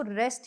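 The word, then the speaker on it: wrest: next word है रेस्ट तो भाई रेस्ट को आप हमेशा डब्लू जो है इसमें साइलेंट होगा और आप इसको रेस्ट नहीं बोलोगे आप इसको रेस्ट ही बोलोगे ठीक है तो अब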